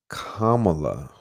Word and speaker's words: Kamala: say the name but I'm I stand corrected Kamala I was saying that spirit is saying that